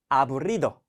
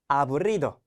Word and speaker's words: aburrido: 자, 여기 보시면은 지금 R의 발음이 보이시죠? R의 발음 여러분들 잘 준비하면서 한번 읽어보도록 할게요. aburrido, aburrido.